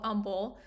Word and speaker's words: Humble: I actually come from a town called Umble, but it's spelled like humble, which is just a